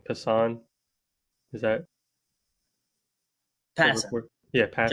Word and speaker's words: Passan: Passan.